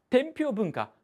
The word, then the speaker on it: 天平文化: やすかったですが天平文化と発音しますこれは天平と